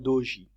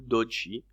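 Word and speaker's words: doji: des ombres ça c'est des chandelles qui s'appellent DOJ ou DOJ dépend comment tu le prononces d o j i d'accord celles qui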